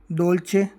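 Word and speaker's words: dolce: हैं इटालियन में दोतरतोरे दोलचे दौलचे यानी मीठा इन उदाहरण से आप समझेंगे कि डी का जो उच्चारण है वो द की तरह होता है दोचे दौलचे यानी मीठा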